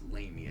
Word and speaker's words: Lamia: I don't know why I keep on saying Mania. It's Lamia.